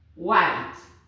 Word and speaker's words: white: And this is white. The H is silent.